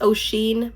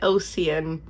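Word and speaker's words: Oisín: I think it's Ocean McKenna, which I only know because Jack Edwards pronounced it. I would have said Oceanen if I had not known.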